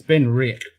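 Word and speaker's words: Benriach: It's Ben Rick.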